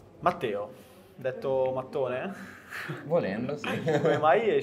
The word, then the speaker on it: Mattone: In realtà è una cosa semplice; Mi piace di più rispetto all'italiano perché gli americani tendono a leggerlo come "Mat-uan". Io dico: "No, Mat-uan va bene, ma si pronuncia Mattone", e tutti ...